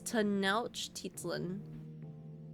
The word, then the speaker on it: Tenochtitlan: Google says I'm wrong, and it's Tenochtitlan is how Google specifically writes out the pronunciation. Now, Nosh is soft, so like no and not now. Nosh.